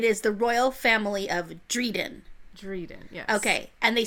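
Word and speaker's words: Drieden: dr.i ad en and it rhymes with Sweden okay so it is the royal family of Dryden reading yeah okay and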